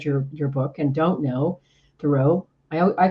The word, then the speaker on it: Thoreau: And then as he got thinking about his last name, he liked the sort of French pronunciation better, Thoreau, rather than Thoreau.